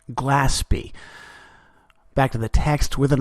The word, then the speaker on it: Glaspie: need to correct myself her name is more properly pronounced Glaspie back to the text